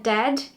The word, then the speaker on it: dead: sounds like bird and dead it is said like bed not bead for goodness sake don't